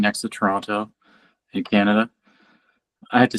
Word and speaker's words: Toronto: is right next to Toronto in Canada. I have to say it like I'm not from here. I say Toronto instead of Tirana, which is normally how we say it.